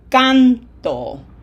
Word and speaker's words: canto: So with my highlighter here, I highlight the syllable that gets pronunciation emphasis, because we want to say yo canto. Listen for that pronunciation emphasis. It's in the canto. If we don't put it there, it's going to sound like yo canto.